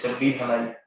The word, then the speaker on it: Shabbir Halai: Sorry for the mispronunciation, sir. It's Shabbir Halai.